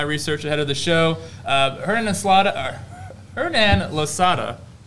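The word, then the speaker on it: Hernán Losada: Hernan Losada. That's how you say it. Yeah, Hernan Losada.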